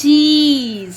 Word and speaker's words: cheese: Okay, here it is E is silent at the end. So CHEES. Grass. Cheese.